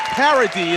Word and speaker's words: Parady: And Parady actually Dominic Parady is the pronunciation I was told.